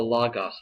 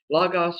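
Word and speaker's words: λόγος: really clearly defined uh what the Greeks called the logos thing logos or logos they're both okay pronunciations of the Greek word here logos or logos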